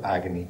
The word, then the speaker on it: Agni: Agni significa, si dovrebbe pronunciare prima di tutto Agni, però insomma, significa fuoco.